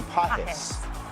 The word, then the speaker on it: Pages: Andy Pajes, not Pages.